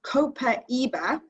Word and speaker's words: copaiba: cool I have one two yeah so we pronounce this copaiba it's very versatile and it's actually great smelling